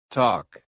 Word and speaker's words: talk: Silent L. Silent L is super sneaky. Walk. Walk. Walk. Talk. Talk. Talk. Come. Come. Come. Half chalk. Chalk. Chalk. Salmon. Salmon. Salmon. Just pretend the L is on vacation.